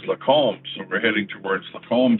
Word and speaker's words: Lacombe: So it must be somewhere really close to here, right near Lacombe, as I call it. But it's actually pronounced Lacombe.